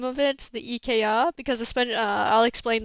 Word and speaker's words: IKEA: It's just a play on words of IKEA, but EK um, is the French way to pronounce it, and you just throw an A in there, and it's Canadian.